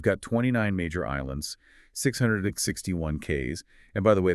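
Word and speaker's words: cays: You've got 29 major islands, 661 K's, and by the way, that's spelled C A Y S, but pronounced keys, and over 2,000 isolated rocks and exposed reefs.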